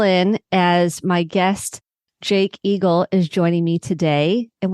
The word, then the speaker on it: Eagle: just making sure I pronounced the name correctly and just like eagle and I said oh